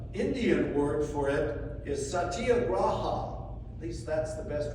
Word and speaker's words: satyagraha: The Indian word for it is satyagraha. At least that's the best way I can pronounce it.